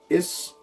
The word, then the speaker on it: is: now this is pronounced is that's actually a broad s sound but it's again because